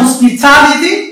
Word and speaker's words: hospitality: Now we have hospitality. The stress falls on Ta, because we have T, the last syllable, Li, the penultimate syllable, and Ta is the anti-penultimate syllable.